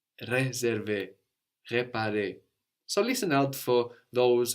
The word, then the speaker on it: réparer: le, just an E, where the E of réserver, réparer, is written with a little accent over it, a little dash going up from the E, which lets you know to pronounce a stronger E, réserver, réparer.